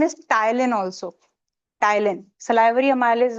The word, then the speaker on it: ptyalin: ठीक है, उसका another name is ptyalin also. Ptyalin, salivary amylase is also known as ptyalin. Ptyalin, P is silent.